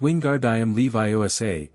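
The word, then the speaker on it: Wingardium Leviosa: It's Wingard Levi. Make the gar nice and long.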